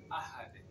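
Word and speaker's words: أَحَدٌ: Ahad. C'est Dun, mais on prononce Ahad en principe. Mais à cause de la règle de 5 lettres, Kutubujadin, on va dire Ahad.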